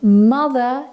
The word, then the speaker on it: mother: If a word ends with ER, OR, AR, or RE, these also have a silent R. So mother is pronounced without the R.